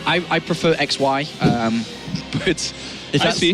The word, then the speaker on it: XY: Shy is actually how you say it. I prefer XY, but if I that's...